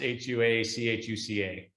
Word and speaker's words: Huachuca: It's not spelled at all like that, is it? No, it's with an H. The spelling's really off. It's Huachuca.